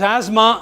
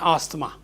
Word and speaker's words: asthma: So it is asthma and not asthma. Why we write a TH?